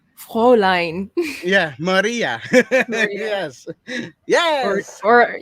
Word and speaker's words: Fräulein: How do you say that? Floorline? Fräulein.